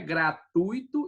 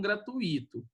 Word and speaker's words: gratuito: lá, ó, é, né, gratuito e não gratuito, tá certo? Aí, ó, ui, tá vendo? O acento é no u, né? A ideia, acento não, a vogal tônica é o u e não o i, tá certo?